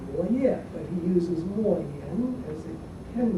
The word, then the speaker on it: Mo Yan: 他本来姓管, his surname is Guan Mo Ye, but he uses Mo Yan as a pen name. It rhymes with Mo Ye, of course, but the story is